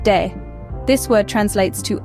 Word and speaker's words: de: Elgato means the cat next up we have day pronounced de this word translates to